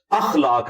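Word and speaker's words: اخلاق: साथ होते हैं मसलन ये लोग बोल देते हैं खलाक खलाक लफ्ज नहीं है अखलाक लज है तो अगर हम ये लफ्ज यूज करेंगे तो अलिफ के ऊपर जबर डालेंगे इस तरह इंग्लिश के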